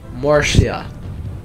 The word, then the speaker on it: Murcia: Murcia. Like, mercy.